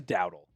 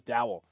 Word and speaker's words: Dowdle: Rico, it is Dowdle. I don't know why I thought it was Dowell.